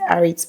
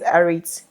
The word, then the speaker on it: Arit: Uh, my name is Arit. A lot of people pronounce my name so wrongly. So, for the first time, my name is Arit. Arit. It's a Greek name.